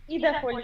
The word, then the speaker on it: Idavoll: So our first speaker is going to be Alina Aseeva from Idavoll network. Do I pronounce this right, Alina? Idavoll network, yeah, more or less. Not French variant, but Scandinavian.